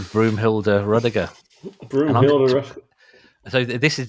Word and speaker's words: Ruddiger: His name is Ruddiger, or Ruddiger, if you want to pronounce it the American way.